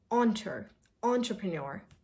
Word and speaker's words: entrepreneur: Oh, so the first sound is not as we usually say in enter. No, entrepreneur.